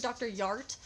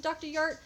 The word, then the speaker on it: Dr. Jart: My boyfriend saw this morning and pronounced it Dr. Yart. I also know Lily Pebbles pronounced it Dr. Yart. I've always pronounced it Dr. Jart.